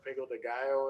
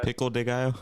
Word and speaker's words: pico de gallo: And I put that in the queso, and then of course you put some fresh pico de gallo in it. And I mean, yes, I use the pickle de gallo.